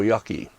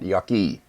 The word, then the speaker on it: yake: the Japanese call roko Yaki uh R show is green pigment Yaki is burning green pigment burning I should correct my mispronunciation it's Yak not Yaki I've just posted on